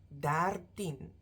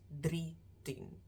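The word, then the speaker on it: dertien: team to the end the first one dartin you'll see it's not drifting that three changes to DAR thin so with some of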